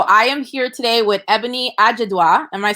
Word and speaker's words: Ebuni Ajiduah: So I am here today with Ebuni Ajiduah.